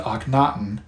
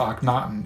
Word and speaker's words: Akhenaten: his Reign he changed his Royal name to anaton and that is spelled a h n a t en there